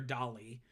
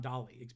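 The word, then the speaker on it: DALL-E: including by open AI with their Dolly um spelled like Wall-E but with a d so it's kind of referenced to it be robotic or futuristic but also like Dolly like Sal Salvador Dolly and that's their image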